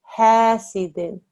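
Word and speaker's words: حَاسِدٍ: Is it because when the student read, she read them as almost thick letters. This is a very thin sound. Ha, hasidin, idha hasad.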